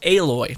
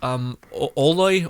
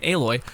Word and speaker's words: Aloy: But no, this character is a 5-star character, Aloy, not Aloy or whatever. I hear some people say weird names. I finally get it because I know how to actually say her name, Aloy.